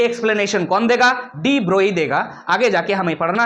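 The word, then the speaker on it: de Broglie: ऑन the basis of डी ब्रोगली concept. हम बोल दिए डी ब्रोगली। लेकिन जब हम पढ़ाएंगे इस चीज को आगे जाकर के डी ब्रोई पढ़ेंगे। एक्चुअली जी जो है साइलेंट होता है।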